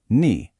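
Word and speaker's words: に: It's pronounced ni.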